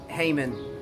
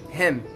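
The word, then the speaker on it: hymn: again archive okay archive number three him him not all the people pronounce it heyman no it's not it's incorrect we have to pronounce it him okay the last one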